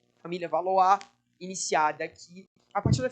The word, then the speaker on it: Valois: Se escreve Valois, né? Mas no francês aqui tu vai lançar um sotaque diferenciado. Família Valois, iniciada aqui.